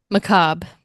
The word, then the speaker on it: Macabre: It's a French word Okay. that's been like Americanized. So if you were to say it like in European, it'd be macabre. But we keep it simple.